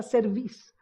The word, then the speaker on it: cerviz: pueblo de dura cerviz, porque la palabra hay que pronunciarla correctamente, no tiene un acento, dura cerviz.